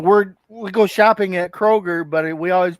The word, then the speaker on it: Kroger: you went shopping at the Krogers it is Kroger Krogers I said that today